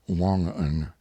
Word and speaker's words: Wangan: Note, Wangan, pronounced Wongan, here means the supplies furnished by Isaac and sold to his men at exorbitant profits.